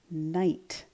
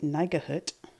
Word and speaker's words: night: And I don't say Nigahut, I say night. That's G-H is silent.